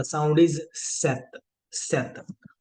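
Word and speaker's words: sept: इज सिस एंड for seven the sound is सेत सेत सो in this particular case जो आपकी पी है पी इ साइलेंट प साइलेंट है तो आपको पी की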